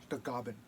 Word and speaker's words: Tagaban: i'm cherokee and filipino and my last name tag man that comes from my filipino heritage how you pronounce it the goblin my grandfather comes from bandark and my great